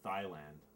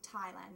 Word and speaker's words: Thailand: you mean Thailand no Thailand it's like t h i oh no you don't pronounce the h it's silent so it's the Thailand you just pronounce the